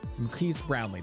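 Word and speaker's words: Marques Brownlee: his name Maris Brown uh brown brown brownley Maris brownley that's how you say I always get confused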